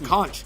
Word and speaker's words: conch: The conch.